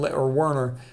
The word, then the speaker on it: Werner: He's from Werner. A lot of times a W is pronounced like a V.